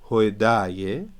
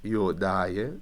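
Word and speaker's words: ܝܗܘܕܝܐ: Hoidaye, Yodaye, if you want to pronounce it correctly, Yodaye, the Jews.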